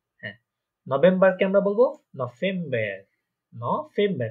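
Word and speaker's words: November: নভেম্বর, কারণ দেখেন এখানে একটা ভে যেটা আছে ভি, ওটা ফাও, তাই না? হয়ে যাবে নভেম্বর।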